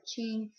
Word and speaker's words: Qing: D the Ching Dynasty it's spelled with a q but it said Ching um and it is